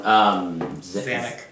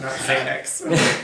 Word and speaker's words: Xanac: Xanac. Xanac. Not Xanax. No.